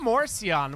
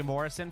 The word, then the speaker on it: Morsion: It's Jay Morsion, which all of us have been pronouncing wrong for the longest time. All of y'all have been calling him Jay Morrison forever. It's Jay Morsion, by the way.